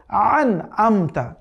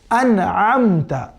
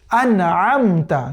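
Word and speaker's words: أَنْعَمْتَ: সঠিক হচ্ছে শুরুতে পড়তে হবে আলিফ, এরপরে পড়তে হবে আইনের উচ্চারণ, তাহলে সঠিক হবে।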